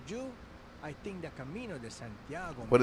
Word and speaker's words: Santiago: I don't recommend for everyone, but for you, I think the Camino Santiago. What is this called? Searching for strawberries. Clouds. Huh? It is pronounced Santiago.